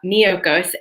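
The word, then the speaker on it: Miyoko's: there's this company called miyokos so that's spelled m as in mary i y o k o so almost like mykonos but miyokos and they have sliced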